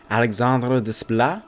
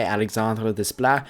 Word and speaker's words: Alexandre Desplat: Originally, Alexandre Desplat, as I believe it's pronounced, was composing the soundtrack.